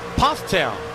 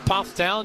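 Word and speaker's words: Pfafftown: On board with Converse University's Jake Cummings out of say with me, Pufftown, North Carolina. Looks like Buffap Town is pronounced Pufftown just outside of Winston Salem where eyes of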